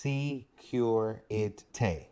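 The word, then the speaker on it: sécurité: first one is security this is pronounced secureity and this is used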